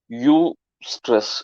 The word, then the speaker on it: eustress: This stress is also what we call as U stress. U stress in the sense, I'll spell it EUSTRESS. That is what we call as U stress. That is the spelling of U stress.